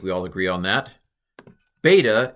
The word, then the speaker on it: beta: all agree on that beta is a b sound sometimes times it's called Uh uh Vita in modern Greek but I'm going to pronounce it B beta uh gamma is G